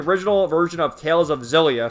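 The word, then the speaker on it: Xillia: Uh regarding the change from the original version of Tales of Zelia, funny how the translator spells it like that, but that's how you say it.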